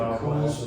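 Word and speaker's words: McChuill's: McCool's, I think it's pronounced. No, McCool's. that. It's like an Irish spelling. It's not spelled how it sounds.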